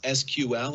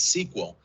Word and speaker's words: SQL: sql structured query language sql pronounced as sql or sometimes as sql is actually the standard